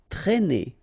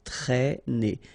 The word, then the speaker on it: traîner: Okay, accent circumflex here, so you should write it, but then keep in mind that you don't pronounce it, so it doesn't change the pronunciation of this combination of two letters, A and E together, it's E, okay, traîner.